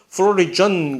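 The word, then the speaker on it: florigen: 어쨌든 자 그래서 이 플로리겐이라고 하는 독일 사람들이 처음에 관심을 가졌나 보지 발음이 독일식으로 이렇게 되는 거 보니까 미국 사람들이 처음부터 관심을 가졌다면 플로리전 그렇겠지만 그래서 플로리겐이라고 하는 요 신비의 물질 요것이 바로 개화를 시작하는 물질이다라고 딱 분명히 있을 것이다.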